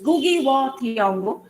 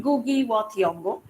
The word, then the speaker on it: Ngugi wa Thiong'o: When we were students, we were told it was Ngugi wa Thiong'o. Now we are told it is Ngugi wa Thiong'o.